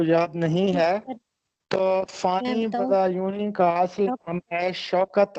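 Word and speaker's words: فانی بدایونی: کہ فانی بدا یونی، یہ اکثر اس کو بد ایوانی پڑھتے ہیں جبکہ درست تلفظ ہے فانی بدا یونی. اس کو بد ایوانی نہیں پڑھنا بلکہ بدا یونی پڑھنا ہے، فانی بدا یونی.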